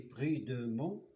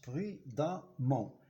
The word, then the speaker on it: prudemment: Alors, j'ai écrit prudemment, mais je prononce prudemment. E, 2M, E-N-T. Le E se prononce A, prudemment.